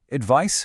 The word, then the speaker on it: advice: Next, advice versus advise. The noun advice rhymes with nice, while the verb advise rhymes with size.